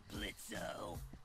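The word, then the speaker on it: Blitzø: Uh-huh, sure, Blitzo. The O is silent now, bitch.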